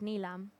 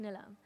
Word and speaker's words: Nilam: here and I um growing up I was called neam at school and then of course the jokes of n cuz my name is nilam at home it's pronounced nilam so when I uh